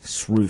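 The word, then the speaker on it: Sroufe: I'll just so if you want to look that up, it's spelled S-R-O-U-F-E, Shrew.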